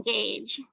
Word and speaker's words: gauge: And the rain gauge. Remember, rhymes with cage.